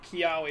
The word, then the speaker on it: Kiawe: Kiawe is how you say his name.